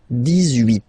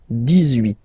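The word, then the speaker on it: dix-huit: Okay, then 18. So you will make this little link between the two, the liaison. 18, 18, 18.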